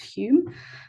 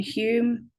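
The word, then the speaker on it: Home: This guy, Henry, I have a vague memory of this being pronounced Hume, so I'm just going to go with it.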